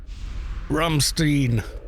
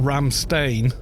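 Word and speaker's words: Rammstein: the way to say no it's german so you say in the with german pronunciation surely ramstein ramstein not ram stain ramstein sounds like oh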